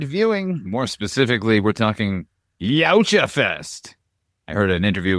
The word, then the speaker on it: Yautja: More specifically, we're talking Yautja Fest. I heard an interview with Dan Trachtenberg recently, and evidently I've been saying it wrong this entire time. What a crime, HP? Yowza, yowza, Yautja.